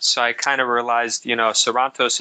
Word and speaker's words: Sarantos: I kind of realized, Sarantos is how you say my name, which is in Greek.